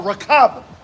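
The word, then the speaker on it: רכב: The chariots, what you call Rakab. That's how you say it in the Lashwan Kodash.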